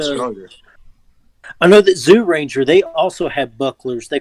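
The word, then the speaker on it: Zyuranger: yeah that's pretty much it's more like jew ranger yeah it's not really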